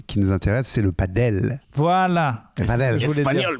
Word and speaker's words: padel: Bah, ça s'écrit... Comment on pourrait le dire ? P-A-D-E-L.